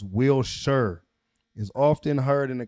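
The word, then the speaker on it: Wilshire: The word will is pronounced Wilshshire is often heard in the context of Wilshshire Boulevard in Los Angeles which is pronounced with the emphasis on the first syllable.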